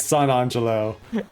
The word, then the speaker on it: San Angelo: Or, as my buddy Matt pronounces it, San Angelo. He does. No matter how many times I correct him, it's San Angelo.